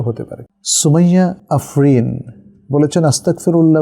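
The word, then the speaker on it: أستغفر الله: গইনের উপর যখন জজম হবে, সাকিন হবে, তখন এটা পড় থাকবে না, আস্তাগফিরুল্লাহ।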